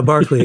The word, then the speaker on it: Berkeley: he said but yeah Barkley is his pronunciation we Americanized it well yeah yeah you're